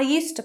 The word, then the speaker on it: used to: didn't used to play there's no difference in pronunciation because we need the infinitive verb after did we would remove the